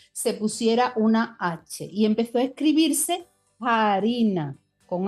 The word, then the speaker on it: harina: En latín la palabra farina, hm, escrita con f. En español se escribió farina durante muchísimos siglos, pero en español no se pronunciaba farina, se pronunciaba harina.